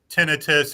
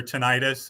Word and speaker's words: tinnitus: so we've heard uh tinnitus or tinnitus it's pronounced both ways yes is a dramatically